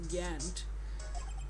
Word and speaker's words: Gantt: the chief of police Gantt oh no his name rhymes with Zant that means he's the